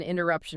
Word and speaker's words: interruption: The natural instinct is to nasalize it, to make it sound like the Portuguese sum. Right. It comes out sounding like an open, echoing vowel in the back of the nose. But in English, that suffix should sound like shan. It is flat, and it's percussive.